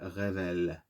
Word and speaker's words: révèle: Without the H, because in French it's like we skip the H, so it makes like rêve elle, révèle, rêve elle, révèle, rêve elle, révèle, révéler, to reveal.